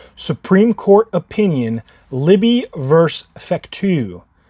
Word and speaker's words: Fecteau: We are back at it again with a May 20th Supreme Court opinion, Libby versus Fecteau. F-E-C-T-E-A-U, Fecteau, I think is how you say that.